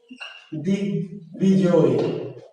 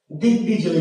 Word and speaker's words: দিগ্বিজয়: যেমন দিগ্বিজয়, দিগ্বিজয়, দিগ্বিজয়, তাহলে বয়ের উচ্চারণ হয়েছে, বুঝতে পারলেন?